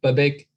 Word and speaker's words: Babak: I mean, it's one of those ones, it's a two-syllable, but it's tricky because emphasis is like the whole thing. It's the whole thing. Babak. See, what I usually say is like, it's like saying bar back, and then you just take out the R.